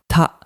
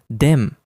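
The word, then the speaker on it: 田: The kanji is usually read as Ta, like in Yamada. However, in this word, it is pronounced Den.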